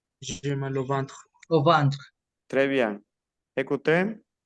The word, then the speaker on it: ventre: J'ai mal mal au au Ventre. ventre. Ventre. Ventre. ventre. Un. Et N se Ventre.